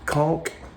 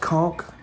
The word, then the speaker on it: conch: And uh yeah, the guy we stopped to talk about conchk. By the way, it's pronounced conchk, not conch.